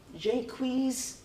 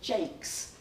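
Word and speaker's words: Jaques: him jack right but there are also a few other pronunciations Jacquees and Jake's now Jake's in particular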